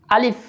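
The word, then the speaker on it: ألف: প্রথমে আলিফ উচ্চারণ করা শিখবো। আমার সাথে বলুন আলিফ।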